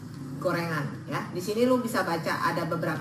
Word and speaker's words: Goerengan: nah ini tempatnya mirip namanya goerengan atau kalau ya itu ejaan jadul bacanya tetap gorengan ya di sini lu